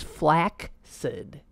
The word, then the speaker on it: flaccid: the difference okay okay pronounce this Fla CCID flaccid wrong wrong wrong haha that's what I said flaccid that's not the pronunciation it's not even close what it is is flak said I looked it up she was right I'm totally wrong flax it in some